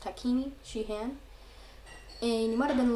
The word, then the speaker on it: Takini Shie-Han: sheehan wars um and that's how it's pronounced takini shihan and you might have